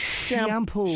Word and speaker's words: Chiampou: And Ken Chiampou. CHIAMPOU. It's shampoo.